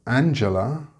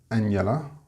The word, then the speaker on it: Angela: But Angela is not Angela.